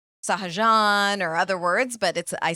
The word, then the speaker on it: Sahajan: So how do you pronounce it? Is it Sahajan or no, Sahajan? I say Sahajan.